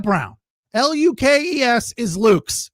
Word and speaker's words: Lukes: But the one thing that drove me crazy all night, Nathan Lucas, Lukes. That is never Lucas. Under any circumstances, his name Lucas. It is Luke's.